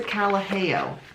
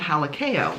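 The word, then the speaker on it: Kalaheo: This is the Calaheo, not to be confused with the Halakeo, which is the thing I keep trying to pronounce it as.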